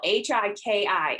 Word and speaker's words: Hiki: it a try it's it's spelled h-i-k-i and it's hiki which is the hawaiian